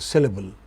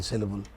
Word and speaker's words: syllable: I'll shortly tell you what I mean by word called syllable, okay? Here is the word. is pronounced with stress on the initial syllable. It is not syllable, it's syllable.